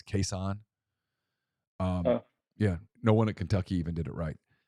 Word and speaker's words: Kason: Did you know we were always pronouncing his name correctly? We called him Kason, and that's not his name. It's Kason.